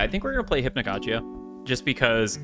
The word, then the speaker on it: Hypnagogia: Hypnagogia. Hypnagogia. There you go. That's how you say it.